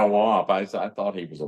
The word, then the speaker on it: Wamp: Jack, I'm trying to remember, did he pronounce it Womp or Wamp? Womp. Yeah, Womp.